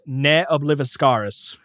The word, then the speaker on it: Ne Obliviscaris: extreme progressive metal band and apparently it is pronounced NE obliviscaris yep cool I I will probably end up